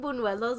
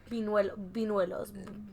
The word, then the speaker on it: buñuelos: because I've got them buñuelos my whole life, and I know I'm not saying them right, and I heard Leti say it right now, buñuelos. It's with the ñ.